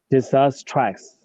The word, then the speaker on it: disastrous: Okay, so say for me, trust without pronouncing the T at the end. So trust. Okay, so disastrous. Disastrous.